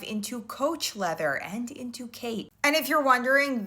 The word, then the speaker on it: Khaite: Coach Leather and into Khaite. And if you're wondering, this designer, spelled like this, yes, it's pronounced Kate.